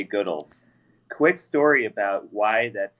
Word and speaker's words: Goodles: this at some point most people probably say uh goodles even though we say goodles.